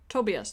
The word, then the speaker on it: Tobias: secrets also I have I have been saying it wrong this whole time is it to be as like have I been pronouncing his name Rose yes Tobias Tobias okay I will get that Tobias I will try and say it the correct way doubt I'm so sorry